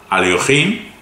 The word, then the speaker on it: Alekhine: directamente dijo Alekhine, bueno, lo pronuncia a la rusa, Alekhine, Fischer, Capablanca.